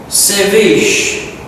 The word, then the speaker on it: ceviche: So Latin America is giving us ceviche. I think it's how to pronounce it.